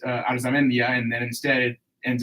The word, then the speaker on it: Arzamendia: Arzamendia. That's how you say it.